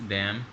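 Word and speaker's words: damn: सब राशि बुरी चीज डैम तो डैम मेलेनिन जब भी कोंबिनेशन आएगा वॉटर एंड पर आपने इनको साइलेंट कर देना है आपका जो यह एन है यह साइलेंट हो जाएगा आप इसे नहीं पढेंगे तो इसी तरीके से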